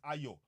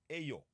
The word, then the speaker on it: Ayo: My name is Ayo, not Ayo. My name is Ayo, not Ayo. Ayo is what we call it in Yoruba, and all of this